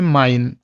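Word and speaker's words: mein: এখন এইটার উচ্চারণটা হয় হলো আই এর মতো, বাংলায় হলো আই।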